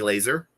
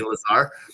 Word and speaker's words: Lazar: I say her name wrong because I think it sounds cooler. Emily Laser. Yep. Instead of Emily Lazar.